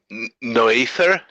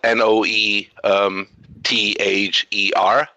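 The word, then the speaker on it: Noether: I forget her name her last name isn't no ether Mather something like that it's spelled noe th ER no ether oh just about you who figured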